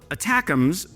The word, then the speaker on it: ATACMS: And before we jump in, what the heck is ATACMS? Well, ATACMS, pronounced like attack m's, just think about Steak-umm's, used to be the belle of the ball.